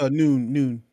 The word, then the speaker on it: Nguyen: It's pronounced Noon, like Noon.